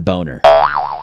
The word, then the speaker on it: Boehner: up it's John boner I want to say Boehner like everybody else can't do it there's an o in there folks don't forget that out